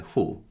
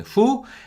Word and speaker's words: 후: that mean before and after are chan and who these syllables have chinese origin and they are used